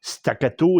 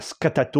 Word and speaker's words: Staccato: de le prononcer correctement le modèle stakato et non pas scatato ou scatoato.